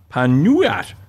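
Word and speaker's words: pan nogat: The word nougat comes from the Occitan pan nougat, pronounced panuat, seemingly from Latin panis nucatus.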